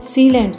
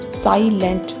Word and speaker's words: silent: Long vowel आई में आई की ही sound आएगी, जबकि शॉर्ट वोवेल आई में ई की साउंड आती है। तो इसे सीलेंट नहीं साइलेंट कहेंगे क्योंकि ये एक लॉन्ग वोवेल है, साइलेंट।